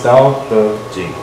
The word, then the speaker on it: Dao De Jing: Tao and Te, but it's normally pronounced with a D, because it's Dao De Jing.